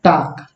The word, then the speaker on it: talc: फिर इसके बाद से है टाक, TALC। इसे हम क्या कहते हैं उच्चारण में? टाक कहते हैं, टाक, टाक कहते हैं। समझ में आ रही? इसमें एल क्या है? साइलेंट हो गया है।